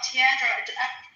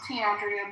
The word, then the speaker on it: Tandrea: Tandra. So, do I say your name right? Am I saying it wrong? I feel like I'm mispronouncing your name. Oh, Tandrea.